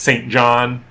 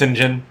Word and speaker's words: St. John: Oh, I can't remember his last name, but it's one of those guys whose name, like, it looks like it's St. John, but it's pronounced Sinjin.